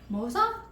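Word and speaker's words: Moze: okay and of course it's not pronounced moose it's uh Mo Moosa MOA I don't know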